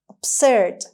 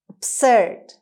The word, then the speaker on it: absurd: who hesitates is is word number nine is absurd absurd absurd the stress is on c sound absurd